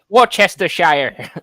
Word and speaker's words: Worcestershire: Anything that's any county, any British county that's usually pronounced by an American, they say shire instead of sh, which it should be, because they all think we're hobbits, don't they, George?